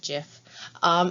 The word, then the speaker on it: GIF: see in this adorable gift or as they now say you're supposed to pronounce it jiff you have a sugar